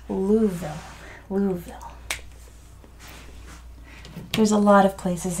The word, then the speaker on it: Louisville: the Kentucky Derby that's right but it is pronounced Louisville so you can probably get away with saying Louisville but it's pronounced Louisville it's here in Kentucky can you see the